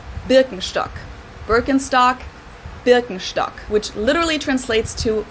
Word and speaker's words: Birkenstock: the world nowadays and it's natural that people pronounce it with their native accent so English speakers usually say burkenstock in German we say biren Birkenstock binstock which literally translates to Birch stick the